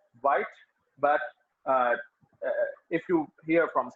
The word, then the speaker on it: Wyatt: And Thomas Wyatt is, you can also pronounce him Wyatt sometimes, because the old English pronunciation was different, quite different from the modern English pronunciation. But in modern language, if you are in an interview or you are presenting something, you must pronounce it White.